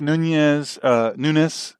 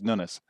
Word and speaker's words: Nunes: people say that this Nunes, I say his name wrong. I say it like I think it should be said, but he pronounces Nunes.